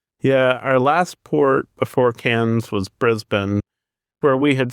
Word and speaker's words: Cairns: I had been pronouncing it I don't know what cars and all kinds of stuff. And so then of course we arrived and they're talking about cans. So completely different spelling from that one in France.